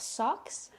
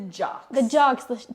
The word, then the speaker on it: jocks: The socks? The jocks. Not socks. Jocks.